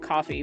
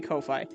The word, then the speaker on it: Ko-fi: I keep wanting to pronounce it coffee, but I think it's supposed to be Kofi.